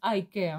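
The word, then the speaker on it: Icare: Apparemment, ça se prononce High Care, hein, le nom de ce sac-là, le dernier que je vous avais présenté.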